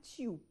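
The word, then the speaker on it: tube: هكتب كمان الكلمه، فهكتب تيوب تي يو بي اي تيوب تي يو بي اي تي يو بي اي. الاي اللي هي السايلنت دي هي اللي خلت لي اليو لونج.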